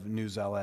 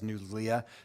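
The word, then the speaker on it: Newsela: And I want to thank Assistant Superintendent Sherburne, who I purposely mispronounced the name of Newzella as Newzlia, just to irritate her.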